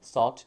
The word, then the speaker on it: thought: 주시면 좋을 거 같고요 발음 하실 때이 gh 굉장히 거슬리 수 있는데 영어가 특이한게 gh 무음입니다 발음이 안 되니까 없다 생각하시고 발음 연습해 주시면 훨씬 더 쉽게 발음하고 있을 거예요 자 그다음은 a b